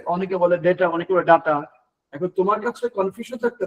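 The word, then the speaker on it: data: তুমি ডাটা এবং ডেটা দুইটাই বলতে পারো, কিন্তু এটার অ্যাকচুয়াল উচ্চারণ হচ্ছে এই যে ছোট্ট করে ই, ডেটা।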